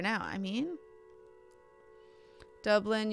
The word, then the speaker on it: Dublin: Dublin, you got it right the first time. Dub rhymes with rub.